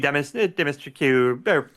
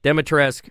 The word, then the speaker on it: Dimitrescu: It made me sad, like Lady Dimitrescu. Dimitrescu. Will's our expert. How do you say it, Will? Dami Mommy. You know what? She's Dami Mommy.